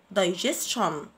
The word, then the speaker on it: digestion: ال اي عملية الهضم digestion دي اي جي اي اس تي اي او ان عندنا تي اي او ان بننطقهم شن digestion دي اي جي